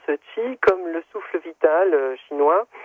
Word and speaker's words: Qi: cas comment s'appelle la péniche Laurent elle s'appelle ti alors ça s'écrit QI et ça se prononce ti comme le souffle vital chinois donc du fengchui